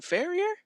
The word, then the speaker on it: Farrior: and live with Hunter how do you say your last name frier faer yep Fair dang I Steve I